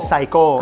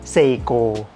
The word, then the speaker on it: Seiko: What's the correct In Thai, we call Saiko. Saiko, but in Japanese, we call Seiko.